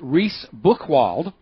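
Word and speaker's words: Reice Buchwald: US District Judge Naomi I think it's pronounced reys book Wald in a 100 61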